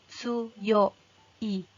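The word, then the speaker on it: 強い: yg sudah Yi Jadi kalau misalnya dia berdiri sebagai kata sifat maka dibacanya tsuyoi Kata Si Fatih yang berarti kuat kemudian kalau misalnya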